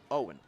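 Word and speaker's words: Eoin: Until you look at his name, it is spelled E O I N. Owen, straight out of Dublin.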